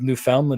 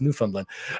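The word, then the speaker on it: Newfoundland: I pronounced Labrador right I recently learned it's not New Foundland it's new fundland um thanks for that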